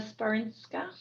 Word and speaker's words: Sporinska: there put up her hand, Sporinska, if I'm pronouncing that correctly. Yes, thank you very much. That's exactly how you pronounce it.